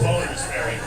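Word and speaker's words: Bonners Ferry: It looks like Bonner's Ferry, but it's pronounced Boner's Ferry.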